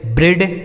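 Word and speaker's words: bread: तो अगर ई ए के साथ क्या लिखा हो, ई ए का उच्चारण हम एक ही मात्रा भी करते हैं। ठीक है। तो इसे पढ़ेंगे डेड, हेड, ब्रेड, health, haven.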